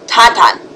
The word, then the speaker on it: Tintin: Or how they say it in French, TinTin.